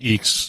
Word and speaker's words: IAX: because i did i did the sip and eeks and stuff way way back and they always said that that's how you pronounce is that's funny about you know that's